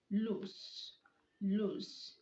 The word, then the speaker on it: loose: don't let a dog loose in the beach loose loose okay it means not tight or not firmly